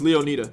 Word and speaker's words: Leonida: But Mizzly is pronounced Leonida. Kiss my ass, it's Leonida.